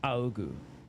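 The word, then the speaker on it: 仰ぐ: So that would be Aogu? Aogu. I think is correct. Aogu. Yeah, Aogu. That's how it's pronounced.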